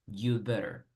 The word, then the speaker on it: had better: El had realmente no suena. Entonces, aunque escribamos had better, en realidad solo dices you'd better. You'd better. You'd better start studying for your test. Entonces, had no se pronuncia realmente, pero siempre escriban.